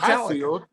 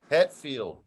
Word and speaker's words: Hetfield: Hatfield. Huh? Hatfield. What am I saying? Say his name wrong? Hatfield and the McCoys. What am I supposed to say? Hetfield.